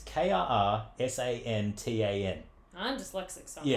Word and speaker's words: Krrsantan: I always mispronounce it. Black, it's Krrsantan.